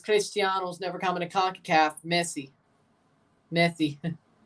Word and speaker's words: Messi: to concacaf Messi Messi are you trying to say it like uh the catalans or uh Pat McAfee says it because Pat McAfee tries to say it the methy way I don't think I think he's trying to say like a catalanian would say it but you don't say it like that because he's Argentinian what is Montreal doing right